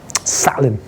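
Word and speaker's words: Zahlen: know what the German word for numbers is salad that's how you say this a sound scary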